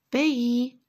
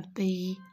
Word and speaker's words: pays: Il était une fois, regardez, O-I, fois, dans un, regardez ici, on fait la liaison, dans un pays, le S, je ne le prononce pas, dans un pays lointain, regardez, loin, ici, O-I-N, je le prononce loin, A-I-N, 1.